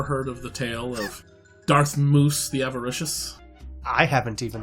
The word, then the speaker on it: Darth Mus: skywalker um no uh darth moose by the way m-u-s as you see in the title is latin from mouse yeah so so very different from what i was hearing yep um i'm just pronouncing latin correctly uh unlike we see